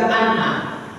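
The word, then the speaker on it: إن: Kemudian innal hamda dengan mengkasarkan hamzah yaitu inna, dan boleh dibaca anna, tetapi yang lebih bagus adalah dibaca dengan inna.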